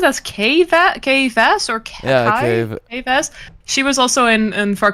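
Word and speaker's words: Kay Vess: Do you pronounce it as K-Vas or Kai? Yeah, K-Vas.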